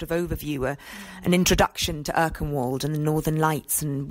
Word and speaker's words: Erkenwald: I'm glad you said Erkenwald, so now I know how to pronounce it.